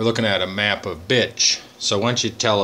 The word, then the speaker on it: Bitche: It was the French pronounced the Bitche, that our 100th Division was assigned to clear that area, which was heavily defended by the Germans.